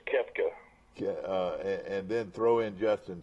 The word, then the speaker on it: Koepka: I tell you what, with him and Copa, Brooks Koepka, however you pronounce his name. It's Koepka.